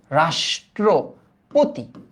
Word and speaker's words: রাষ্ট্রপতি: এটার উচ্চারণ কিন্তু রাস, এই যে মূর্ধন্য সমানে তালব্য স, তাই না? তাহলে এটার উচ্চারণটা কি? রাস, এই যে রাস, হ্যাঁ, তারপর কি? ট্র, রাষ্ট্রপতি, পতি, ওকে, রাষ্ট্রপতি। এবার দেখো তো শ্রাবণ, এটার